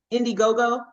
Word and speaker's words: Indiegogo: It says, Indiegogo.